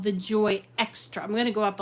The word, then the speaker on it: Xtra: out with released this called the The Joy extra I'm going to go up a little tiny